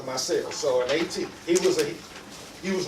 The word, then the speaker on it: Maceo: sons after him, and it became pronounced Maceo, but it was after Maceo.